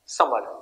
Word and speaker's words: Sumner: Political thinker का नाम है विलियम समर, SUMNER, N यहां पे साइलेंट है।